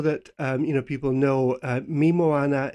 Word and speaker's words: Mi Moana: you know people know me moana is is spelt pretty much as it sounds m i me moana m-o-a-n-a so they can find